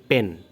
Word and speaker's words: Penn: কোম্পানিটা, যেটার নাম হচ্ছে পেন। মানে সচরাচর আপনারা বলতে পারেন যে ওয়ান অফ দ্য top fishing gear company in the world, সেটা হচ্ছে যে পেন। তো এই পেনের উচ্চারণটা কিন্তু পেন, PENN।